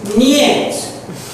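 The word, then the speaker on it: нет: No is niet.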